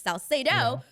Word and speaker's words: Salcedo: should be pronounced but i say it the english way which is salcedo but when you said